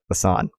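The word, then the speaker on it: Lausanne: to pronounce it uh Lan Lan right Lan like Hassan but with an L Lon for a substantive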